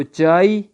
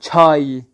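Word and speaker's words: چای: تو ہم اردو والے پڑھیں گے اس کو چائے، لیکن ایرانی اس کو کیا پڑھیں گے، چھا کے ساتھ، چھائی. کیا پڑھیں گے، چھائی.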